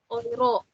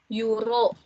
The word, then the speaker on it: Euro: Oke, bisa cepet nih ya ke euro. Oke, di sini ada 5,8 euro. Euro itu kan ditulisnya EURO. Sekarang kita nggak bacanya euro lagi, nggak. Tapi udah euro ya, karena EU nya OI. euro.